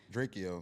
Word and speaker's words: Drakeo: I would say his name wrong. How you say his name? Drakeo.